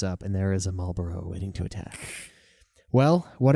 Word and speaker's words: Malboro: WR Maro which is weird because used to pronounce it that way too but it is Malboro Marboro is a cigarette make that distinction from